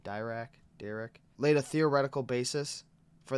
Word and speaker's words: Dirac: With the advent of quantum physics, the English physicist Paul Dirac, I think is how you say his last name, Dirac, laid a theoretical basis for the idea of antimatter starting in 1928, suggesting the existence of antiparticles.